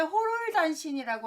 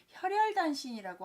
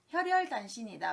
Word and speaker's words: 혈혈단신: 두 번째 호롤단신이라고 하는데요. 우리가 세상에서 혼자 사는 걸 호롤단신이라고 하는데 그게 아니라 혈혈단신이라고 하셔야 됩니다. 호롤단신 아니다. 혈혈단신이다.